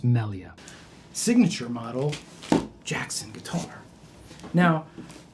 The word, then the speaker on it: Malia: I think it's pronounced Melia signature model Jackson guitar.